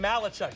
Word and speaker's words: Malachuk: own 26 uh Logan malachuk emphasis last name last syllable he Chucks it down